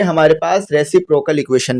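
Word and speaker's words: reciprocal: ठीक है, रेसिप्रोकल, रेसिप्रोकल, कुछ लोग रेसिप्रोकल पढ़ रहे होते हैं, ये रेसिप्रोकल होता है क्योंकि इसमें आर भी है ना, तो आर भी पढ़िएगा।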